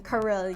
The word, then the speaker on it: Karylle: Because it's easier, it's literally easier to pronounce than Karylle. You have to pronounce two syllables, ka and ril.